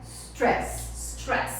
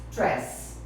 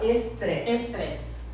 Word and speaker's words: stress: Então, gente, nosso assunto hoje é stress. Presta atenção na pronúncia, gente, que é muito comum em português a gente colocar uma sílaba antes, principalmente com as palavras que começam com S.